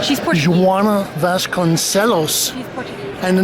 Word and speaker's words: Joana Vasconcelos: Pronounce the name? Joana Vasconcelos. She's Portuguese. Joana Vasconcelos.